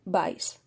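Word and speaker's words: BCYE: cultivo que es agar vice yo digo vice pero se escribe b c y e pero me resulta más fácil de decir y recordar agar vice bien la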